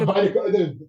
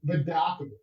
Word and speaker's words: Vidakovich: You know, Johnny I listened to Vidakovich, maybe Vidakovich. you know, but how you say it about Yeah, not Badakovic? Vidakovich.